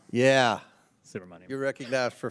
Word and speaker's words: Subramanyam: I will hopefully be able to correctly pronounce this by the end of the 119th Congress, but Mr. Subramanyam. Yeah, Subramanyam.